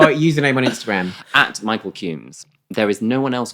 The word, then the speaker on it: Cumes: I am just, my name is really unique, Michael Cumes, so I'm really Googleable. So Cumes is spelled Cumes. Yes, it's like comes. And what? Comes with an E.